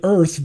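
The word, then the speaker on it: Urth: I love how he's called it Earth, but it's spelled U-R-T-H.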